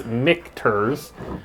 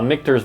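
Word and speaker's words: Michter's: it i'm like mixtures i didn't know how to say it it's mcterz uh mikter's bourbon and there's four different types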